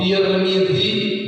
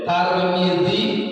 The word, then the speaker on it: Tirmidzi: Mau Tirmidzi boleh, Tarmizi boleh, Turmudi boleh.